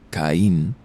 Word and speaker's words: Cain: Cain, manteniendo el apellido para un toque de extranjería siniestra, pero pronunciado Caín para sonar más integrado al español.